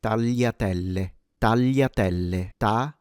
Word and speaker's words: tagliatelle: It's kind of a richer L.